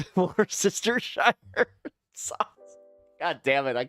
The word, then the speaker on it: Worcestershire: I was like, Worcestershire, and she's just like, no. And then I kept adding another. I remember the one time she's just like, "There's another. You added another syllable."